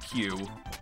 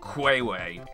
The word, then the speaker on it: queue: And so I would pronounce the word I saw, you know, the word Q, when I read it, I would pronounce it like Quayway, which is just the weirdest thing.